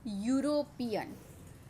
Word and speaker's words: European: see in example a European Europe the spelling begin with e but the pronunciation is Y and Y is the consonant sound that's why we use a before European next is Union Union